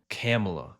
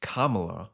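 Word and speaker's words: Kamala: Camela.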